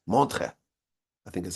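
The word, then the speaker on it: Montreux: in a place called Mantra it's spelled with like e and U's and X's but that's silent monre I think is how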